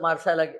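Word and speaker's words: Marseille: सोडण्याकरता नरेंद्र मोदी नक्कीच मारसायला मार्सेला गेले त्या मार्सेचं स्पेलिंग मार्सेल्स असं आहे पण त्याचा फ्रेंच भाषेत उच्चार मार्से होतो म्हणून मी मार्से हाच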